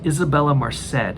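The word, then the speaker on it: Isabela Merced: I think her name is pronounced Isabella Merced.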